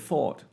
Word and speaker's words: thought: the same thing with thought three words that Alma except except one letter look I identical so again thought will be pronounced more like this so This GH is silent where else do we